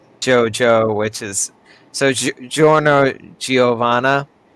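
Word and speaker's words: Giovanna: which is so Joo giovana it's you know it's it's an Italian name but obviously it's spelled GI IO for both of them it's almost like it's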